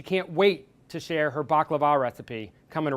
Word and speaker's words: baklava: We are making baklava.